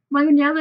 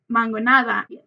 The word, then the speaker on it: mangonada: this out as well mangonella is actually the incorrect way to pronounce it and it is actually called mangonada so to make this